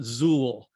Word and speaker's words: Zuill: that works but uh traditionally we call it zuul like in fool so he's he's a